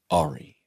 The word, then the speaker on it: Ari: a I I think the pronunciation here is um Ari and we were doing kill Ari. Yeah. And Mark would be like, "When is Ary getting back here?" He was Ary and there was no because Harmon made a choice that he wasn't going to call him Ari.